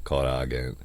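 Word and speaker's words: コラーゲン: The Japanese pronunciation is kuragen.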